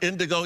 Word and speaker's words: Indoggo: It's called, I think I heard you say Indoggo. Indoggo. Is that right? Indoggo, even though it's spelled with a double G, Snoop, which makes sense, you know, Indoggo.